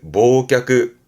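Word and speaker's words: 忘却: 발음은 모끄 앞에 했던 거죠.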